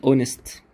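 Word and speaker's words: honest: ان في كلمات زي كلمه اونست اونست ما بنطق الاتش بننطق الاو فنقول ان كلمه زي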